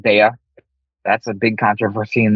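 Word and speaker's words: Daiya: The only cheese that melted was Daya cheese, or pronounced Daya.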